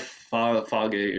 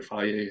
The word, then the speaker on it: Fage: And but I do have Fage or Faye, however you pronounce it, in my fridge now because they were out.